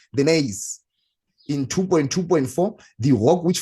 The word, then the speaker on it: gneiss: So remember that this is a silent G. That is why I'm not pronouncing it. It is called the gneiss.